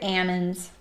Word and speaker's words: almond: fruits and what else they call almonds here Amin's it's like a regional regional pronunciation thing for an almond like say ham and